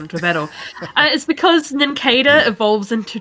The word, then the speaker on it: Nincada: I was just going to say, like, all my life I've pronounced it Nincada, but since it's based on a cicada, Nincada makes much more sense.